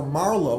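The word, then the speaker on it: Marlowe: St Mary's I studied Christopher Marlo which rhymes with harlo and harlo is the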